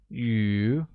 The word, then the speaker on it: 鱼: Thus, I have 5 fish is translated as 我有 5 条鱼, where fish becomes 鱼 and is pronounced with a mid-rising tone.